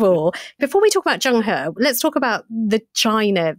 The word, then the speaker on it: Zheng He: me if I'm wrong is it Jung her is that right Jung Jung that's absolutely right yeah very good absolutely